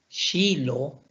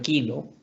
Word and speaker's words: kilo: Kyrka, Shilo, en lugar de kilo, Shilo, Köra, Kär y Keramik.